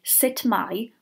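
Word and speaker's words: sut mae: that you will hear variations of the way sit my which is standard Welsh is pronounced depending on where exactly you are in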